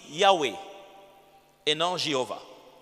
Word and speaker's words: Yahweh: Certains disent Jéhovah, pendant qu'en hébreu, il n'y a pas de J. Leur J, c'est l'Y. C'est pourquoi on préfère plus la tendance qui dit Yahweh et non Jéhovah. Yahweh.